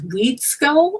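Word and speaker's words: Wedeskyull: yet the thread of I think it's weed skull am I pronouncing that correctly yeah you're one of the few people who did excellent Okay so that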